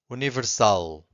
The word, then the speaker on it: universal: If you have a word that ends with an L, if the word ends with an L, you have to stress the final syllable.